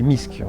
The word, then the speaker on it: MISC: bon en bon français je vais prononcer misc et non pas émaillé si sûr que c'est plus facile à dire donc misc bis qui